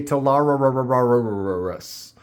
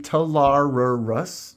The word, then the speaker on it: Talarurus: For some reason, I always want to say Talarurus, but I believe it is the Talarurus, Talarurus. Talarurus.